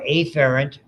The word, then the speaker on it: afferent: The names that you will see are afferent, notice the way I pronounce it, and efferent. Efferent is really where it started.